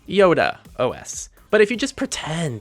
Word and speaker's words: iodéOS: Yes, people, I embarrassingly called it iodéOS the entire review without bothering to look up that it's actually pronounced iodéOS.